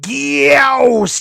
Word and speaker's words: Gyaos: It's pronounced Gyaos, you pleb.